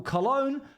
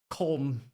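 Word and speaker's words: Köln: Apparently, it's the biggest European convention of the year, and it's happening in Germany, in what I would call Cologne, but I believe it's actually pronounced Colm.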